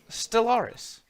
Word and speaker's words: Stellaris: can't pronounce it properly stellaris there we go all right i said that earlier no no you forget one of these you forget anywhere you just kind of forget the l's are in the middle